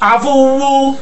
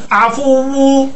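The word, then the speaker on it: العفو: আফু হ্যাঁ এবার এখানেই শেষ এখানে আমাদের শেষ আফু আফু আফু আফু এটা আল আফু হুম এটা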